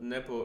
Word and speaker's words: Nepo: I wanted to say Repo remembers, but Nepo remembers is the right way to say it.